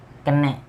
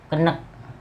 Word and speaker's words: keneh: banyak katanya kera-kera yo kenek Bukan gitu pengucapannya keneh bukan di padang itu enggak ada lele nggak ada yo kenek enggak ada kecil kenek